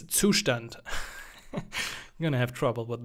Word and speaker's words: Zustand: now I'm gonna say two stand I'm sorry for all English speaking folks try to pronounce it correctly it's sushdent I'm gonna have trouble